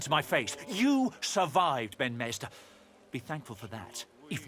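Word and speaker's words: Ifan ben-Mezd: Ben Mesder. I'm going to have to try and remember how that's how it's pronounced.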